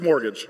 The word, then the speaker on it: mortgage: the way it looks it doesn't look like it should be pronounced mortgage it doesn't look like that but that's mortgage morgage wait is this not